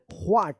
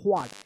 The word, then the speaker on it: what: का उच्चारण आता है व्हाट, ये साइलेंट वर्ड्स नहीं होगा, इसका पूरा उच्चारण हो रहा है W का भी, H का भी, A का भी, T का भी, व्हाट।